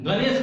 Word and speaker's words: गणेश: और ये टवर्गी न इसको बोलते हैं, हम लोग इसका उच्चारण भूल गए हैं, वास्तव में इसका उच्चारण अड़ होता है, ट ठ ड अड़। हम लोग कहते हैं गणेश, गणेश में क्या है? टवर्गी न है, गणेश कहते हैं, लेकिन उसका शुद्ध उच्चारण क्या है? गणेश, वो अड़ है, हम लोग शुद्ध बोलते हैं। तो इसको हम जो है सुधार लेंगे, उसको अड़ पढ़ते हैं।